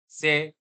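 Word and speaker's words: c'est: से, से, से, रिमेंबर, से, से, राइट। अब इसी इट इज को आप क्या बोलोगे? सेम साउंड रहेगा, से, से, से, और यहाँ पे ईएसटी साइलेंट हो जाएगा, दिख रहा है, लेकिन आप बोलोगे नहीं।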